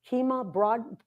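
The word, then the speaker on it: Kemah: How do you pronounce that? Kima Boardwalk in the Bradford Where are you at?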